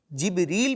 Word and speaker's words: جبریل: ان کا جو نام کا تلفظ ہے نا بچوں، مختلف اعتبارات سے جبرائیل پڑھنا بھی درست، جبریل پڑھنا بھی درست اور جبرائیل پڑھنا بھی درست. تینوں درست تلفظ ہیں.